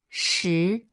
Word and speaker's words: 石: Its pronunciation is she.